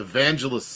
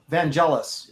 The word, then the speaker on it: Vangelis: I love the the Evangelist soundtrack of that is really good they did the Mutiny on the Bounty is evangelis the the guy is that how you say his name yeah Vangelis evangelis okay yeah uh yeah good